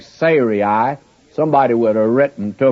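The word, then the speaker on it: Sarai: her name sah and I have actually been pronouncing it incorrectly all through here and I'm not about to change it it's Siri would be the correct pronunciation before Siri well if I'd started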